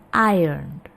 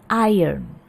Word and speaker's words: iron: Oke, ini menyetrika iron ya. Kalau kita lihat di sini pengucapannya ada sedikit perbedaan. Kalau dalam British English itu R-nya itu sangat tidak terdengar. Iron. Kalau dalam American English sedikit terdengar. Iron.